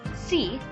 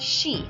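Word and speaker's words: し: S and E, so you would think it would be pronounced si, but it's not. It is actually pronounced she, and you will always say she, never si.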